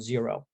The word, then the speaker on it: Xero: new zealand is called zero uh it's spelled xero but it's pronounced zero and they're they're from